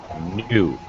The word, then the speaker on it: knew: do the homework great be careful your pronunciation new past tense okay and that's fine